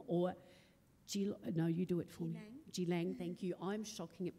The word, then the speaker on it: Geelong: She's a Wadawurrung woman, and she lives and works on Wadawurrung country here in Geelong, or Geelang, thank you. I'm shocking at pronunciation.